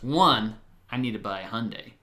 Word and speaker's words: Hyundai: the Hyundai plant and if you don't know how to say the car Hyundai it's Sunday Monday Hyundai as I said I